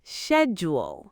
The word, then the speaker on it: schedule: No, it's schedule.